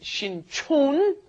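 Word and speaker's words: 신촌: One is Shincheon, one is Shinchon. Yes. The one by Yonsei University is Shinchon, and the one by Jamsil down south, that is Shincheon.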